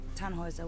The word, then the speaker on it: Tannhäuser: Tannhauser. We'd pronounce it Tannhäuser with an umlaut.